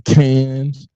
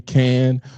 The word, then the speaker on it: Cannes: I was like, Spike, I don't know if you're in Cairns. Oh, hold on. Let me say it phonetically for the intelligent people so y'all know. When you're in Cairns, when you're in Cannes or when you're in France